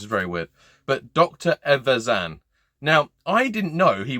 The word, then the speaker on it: Evazan: I can never say his name. I always go to say like Dr. Evagaban and end up saying like Azkaban and crossing franchises. It's very weird. But Dr. Evazan.